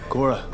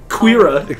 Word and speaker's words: Korra: Korra. Put some fucking emotion to it, boy! Korra! The Legend of Korra! Her name was Korra? I thought it was Queera.